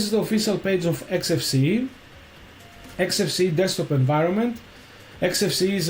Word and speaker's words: Xfce: XFC pronounced as four individual letters is a free and open source desktop environment for Linux and other Unix likes operating systems.